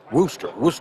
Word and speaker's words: Worcester: For those who may not be familiar with Wreaths Across America, it's an organization that, is it Merrill Wooster or? Worcester.